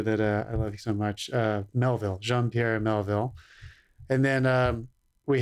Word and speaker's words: Melville: The French director that I love so much, Melville, Jean-Pierre Melville.